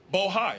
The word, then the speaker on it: Bohai: Bravo Rosemont, Seneca Thornton Raise Mark Senegal Bohai. I want to make sure I pronounce it right.